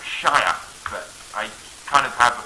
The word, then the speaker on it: shire: get like really posh people sheer it's it's pronounced shia but i kind of have an awkward moment